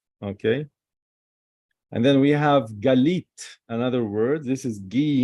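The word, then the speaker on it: גלית: lucky God God okay and then we have galit another word this is ghee email all right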